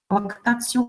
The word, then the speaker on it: lactatio: Lactatio, lactation. We will pay attention to this T, pronunciation of T-O, or T before vowel. We will talk about this. It sounds like T. Tio, lactatio.